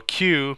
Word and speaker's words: queue: structures the queue and the deck so a queue pronounced Mike the letter Q is actually from the